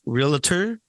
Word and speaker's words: realtor: pronounced realtor or realtor?